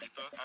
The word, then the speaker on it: Ibiza: I just went to Spain, that's a Ibiza. Ibiza, yeah, it's pronounced Ibiza, actually.